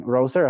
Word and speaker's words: Roser: of Applied Sciences, and Roser, I think I'm pronouncing it correctly. That's correct. Yeah.